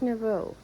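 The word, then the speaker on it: nouveau: way to pronounce it it's n o u v e a u I think it's Novo but I it just that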